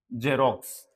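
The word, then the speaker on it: Xerox: जब एक्स किसी वर्ड के शुरू में आता है, जब कोई वर्ड को स्पेलिंग के शुरू में एक्स आता है, तो उसकी जो प्रोनाउंसिएशन रहती है वो जय रहती है।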